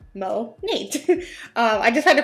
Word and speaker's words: Monat: monet or monat but since it stands for modern nature mo nate um i just had to funny that like there's not a cohesive way of saying monet i said monet for